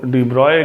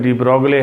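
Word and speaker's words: de Broglie: डियर students, आज का हमारा टॉपिक है डी ब्रोले, या इसको डी ब्रॉय कहते हैं, पढ़ने में डी ब्रोगले है, जो इस प्रोनाउंस करते हैं आप लोग।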